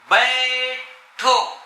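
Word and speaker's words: بیٹھو: عندك الحرف الثالث جهة اليسار بيتو، بيتو، الباء والياء والطاء الطائية والهاء والواو. كيف تنطق؟ بيتو، بيتو، بيتو يعني اجلس.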